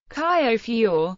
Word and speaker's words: Honfleur: Traditional pronunciation. Caillofior, with the H strongly expirated, like in Locke. It is lost nowadays. The marker fleur, formerly fleur,